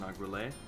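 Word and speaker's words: Nargeolet: I believe it's pronounced Nagrele.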